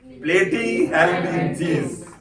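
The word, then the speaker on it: Platyhelminthes: प्लेटी PLATY, प्लेटी हेलमिंथीज। मैं जो बोल रहा हूं आप प्रोनाउंसिएशन और स्पेलिंग को मैच करिए।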